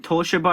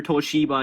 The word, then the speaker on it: Toshiba: pronounce it either way you can pronounce it toshiba or toshiba it don't matter it's the same thing okay come on get